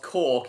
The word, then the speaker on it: Cork: And of course, Cork is easy to pronounce because it's just like a bottle cork.